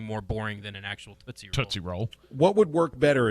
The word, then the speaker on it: Tootsie: It's a Tootsie. It's because, again, it's about rhyming. Tootsie rhymes with footsie, okay?